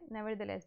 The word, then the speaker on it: nevertheless: अच्छा जी, ये वर्ड है नेवरदलेस। इसको बोलना सही बहुत ज़रूरी है, मैंने बहुत गलत स्टूडेंट्स की प्रोनाउंसिएशन देखी है। नेवरदलेस, इतना ज़्यादा स्ट्रेस मत दें, नेवरदलेस जल्दी से बोल दें।